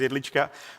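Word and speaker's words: Jedlička: One more thing here actually which is not just my pronunciation my my surname which is Elichka but but also the fact actually we're not micronation.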